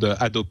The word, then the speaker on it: HADOPI: the way it's called adop you don't pronounce the h um it doesn't it